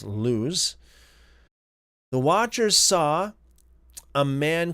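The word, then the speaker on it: Luz: L U Z, most likely pronounced as lose.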